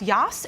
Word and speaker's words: Jas: all the time Jasleen Jas is pronounced Yas in Dutch and it means Pope